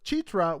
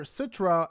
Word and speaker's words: Citra: USA and his girlfriend from Indonesia Citra or chetra which I've learned is the correct way to pronounce her name and that's weird because Sam and his family still call her Citra and so you're going to hear Citra on